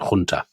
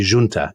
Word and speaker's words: Junta: called the national salvation Hunter I mean or I suppose they would say Junta in Portugal because they pronounce the Jays anyway so you've got